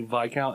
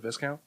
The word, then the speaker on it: Viscount: are you saying that you can't say VI count instead of Viscount no I can say